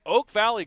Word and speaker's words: Oak Valley: are live at Oak Valley Golf Course, and we're in Davie County.